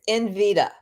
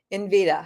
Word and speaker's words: Nvidia: First of all, he pronounces it incorrectly. It's Nvidia.